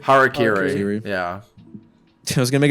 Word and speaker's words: Harakiri: How do you make it- pronounce the album? I was gonna say Harakiri? That's Harakiri. Harakiri.